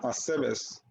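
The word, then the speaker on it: ἀσεβής: los impíos esto también Es un término griego que se pronuncia asbes impío Qué significa impío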